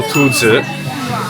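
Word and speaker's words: 秃子: Rabbit in Chinese is 兔子. But bald head, having a bald head is also 兔子. It's slightly different. You pronounce it slightly differently, but it sounds very similar, especially for a foreigner.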